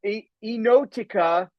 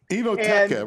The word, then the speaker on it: Enoteca: This is a true story about a restaurant in Staten Island, and the restaurant's called Enotica Maria, Enoteca, right?